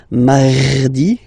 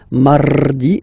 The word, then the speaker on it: mardi: You don't need to go too deep like mardi. No, no, no. You don't move your tongue, so it doesn't sound like mardi. No, it's really soft.